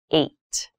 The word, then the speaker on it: eight: number h this has an interesting spelling it's pronounced eight eight is a lucky number eight is a